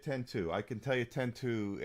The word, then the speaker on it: X-2: I can tell you 10-2, and that's the way it's said, is 10-2, not 12, not X2. It's 10-2 is how how it's supposed to be pronounced.